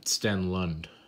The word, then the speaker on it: Stenlund: Kevin Stenlund, I believe that's how you pronounce it. Yeah, Stenlund.